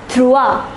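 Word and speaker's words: trois: is pronounced as the the number 3 is pronounced as trua the number 4 is pronounced as so let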